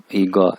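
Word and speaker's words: 一个: वैसे यानी चाइनीज इसको पढ़ते हैं गा गा ईगा, जैसे हम कहते हैं ईगा।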